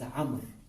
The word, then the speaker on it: Amr: So if you see Ayn, Mim, Ra with a waw after it, it should be pronounced as Amr, not Umar.